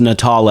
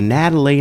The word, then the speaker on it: Natal: and actually in Latin means Christmas and it's pronounced natal a but what happened is the little kid